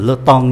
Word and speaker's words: temps: Các anh chị để ý cái này phát âm là le temps nhé.